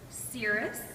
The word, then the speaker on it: cirrus: me good try good try well actually it's pronounced cirrus and this is going to be a good